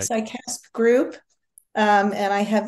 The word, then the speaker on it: CICASP: speaking to the this I think you pronounce it sasp right sasp group um and I